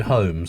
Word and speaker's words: Holmes: Holmes. No, Holmes. Holmes. Like Sherlock Holmes. But there's an L in there.